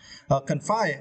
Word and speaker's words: confine: writing or inner speaking confine and for this verse you need to stretch the second syllable five okay confine and